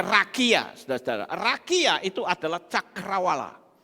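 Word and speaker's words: רקיע: Ini bacanya rakia, saudara-saudara.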